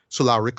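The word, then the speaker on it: Solaricks: Solarix, sorry, right? That's the pronunciation, right?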